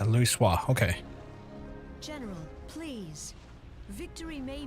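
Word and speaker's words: Louisoix: That's her pronounced Louis Soir.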